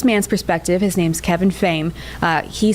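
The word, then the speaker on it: Phayne: P H A Y M E, pronounced Fain.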